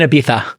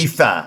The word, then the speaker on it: Ibiza: Crossover podcasts and psychedelics in Ibiza. Yeah. But Lon, thank you guys for saying course. Ibiza. I appreciate it. Ibiza. It's the only way to know. Spanish pronunciation.